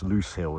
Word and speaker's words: Lose Hill: Of course, Loose Hill is pronounced loose, but it's spelt like lose.